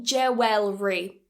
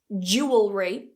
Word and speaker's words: jewellery: There are 2 ways to say this. Jewellery, jewellery, or what most native speakers do is, again, we cut that syllable and we say jewellery. Jewellery. This one is by far the easiest way to say it, so feel free to use this way, and it's probably the one you will hear the most. So, jewellery or jewellery.